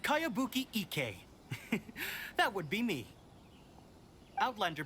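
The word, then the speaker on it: Kayabuki Ikkei: name who's this cowabunga it's pronounced kayabuki ek that would be me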